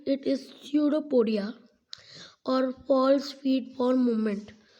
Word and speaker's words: pseudopodia: like projection called pseudopodia p is silent it is pseudopodia or false feed for